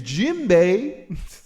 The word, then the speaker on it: djembe: This is a djembe. It's spelled with a D, but spelled like a J. It's djembe.